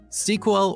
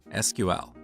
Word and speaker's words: SQL: As you talk to different people, you will hear two different pronunciations of SQL: SQL or SQL. What is the correct way? Well, it depends on who you ask.